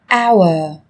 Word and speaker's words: hour: Trong tiếng Anh cũng có một số từ mà cách viết chúng ta thấy xuất hiện chữ cái h, nhưng khi phát âm thì chúng ta lại không cần phải phát âm này, người ta còn gọi là âm h câm.